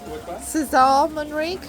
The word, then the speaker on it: César Manrique: Is it called Cesar or Kessa Monri? Oscar, how do you pronounce his name? Cesar Monri.